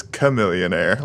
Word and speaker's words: Chamillionaire: I believe the pronunciation is chameleonaire, like a chameleon.